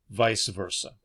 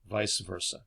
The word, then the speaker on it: vice versa: Sometimes we pronounce as vice versa. Vice versa. Okay, both are acceptable.